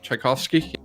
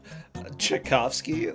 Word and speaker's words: Tchaikovsky: okay this or type how do you even pronounce the composer I'm brain furring Tchaikovsky Tchaikovsky oh boy you put two piles of trash